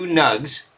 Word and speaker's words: Gnug: A match from 1999, back in April, between two Gnugs. That's just how I pronounce it, the G-N-U-G, the Gnug clan.